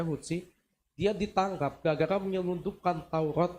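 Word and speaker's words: Houthi: Namun oleh pemberontak suku Hutsi atau Huti, dibacanya Hutsi, dia ditangkap gara-gara menyelundupkan Taurat yang berusia 800 tahun ke Israel.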